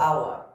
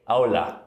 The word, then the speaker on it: Awla: Awla. Kind of like owl with an A. Awla. Yes. Awla, who is an unbundled